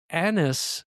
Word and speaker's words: Agnes: In fact, Agnes or Annis as I think they pronounce it, right? It's almost like an and Agnes together is a very specific way they pronounced it.